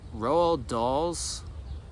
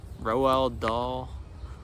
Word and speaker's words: Roald Dahl: And, man, Roald Dahl's, is that how you say his name? Roald Dahl.